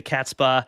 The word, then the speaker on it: Catspaw: His story, Into the Catspaw, and that is how you say it, right? Into the Catspaw.